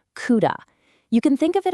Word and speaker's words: CUDA: Now, to unlock all that raw power, the project uses a platform from Nvidia called CUDA, and that's pronounced CUDA.